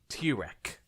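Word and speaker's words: Tirek: It's at pronounced Tyrek.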